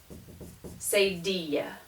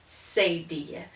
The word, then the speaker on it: cedilla: And this is called a cedilla, like tortilla. This is a cedilla.